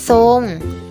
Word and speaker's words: ทรง: เสียง พยัญชนะ อื่น คือ โทร ควบ กับ รอ ออก เสียง เป็น ซอ เช่น ทราบ อ่าน ว่า ทราบ และ ทรง อ่าน ว่า ทรง in Free and ว่า